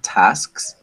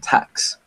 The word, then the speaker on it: tasks: Maybe my only recommendation is in words like tasks, right? Make sure that you pronounce that S and then that K, so it doesn't sound like tax, like you're saying tax, like taxes, right?